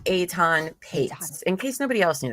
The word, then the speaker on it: Etan Patz: I know it's spelled not how it sounds.